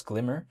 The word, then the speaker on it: GLMR: in regard to Glimmer, which is spelled g l m r, but apparently the way you say it is Glimmer, but even besides that, that right there is the native utility token of Moonbeam.